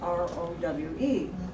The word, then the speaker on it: Rowe: And of course, RAU and RAUH were German sort of spellings and pronounced Rau. But then they started spelling it ROWE. And so by the time they got to Western New York, it's Row. That's right.